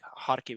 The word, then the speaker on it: Kharkiv: It's, for example, for cities like Kharkiv and Kherson, they are spelled with KH, but they are pronounced H.